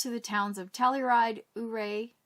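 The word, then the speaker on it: Ouray: the towns of telluride uray uray i think it's pronounced and the ghost town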